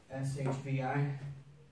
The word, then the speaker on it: shvi: video This is called an Armenian sh it's shbi pretty simple to pronounce too it's kind of like a Penny